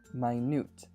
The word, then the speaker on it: minute: And yes, while minute is spelled the same as minute, they are very different words.